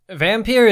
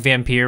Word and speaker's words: Vampyr: a French studio, and that's the French word for vampire, so I'm pretty sure that's how the title is intended to be pronounced.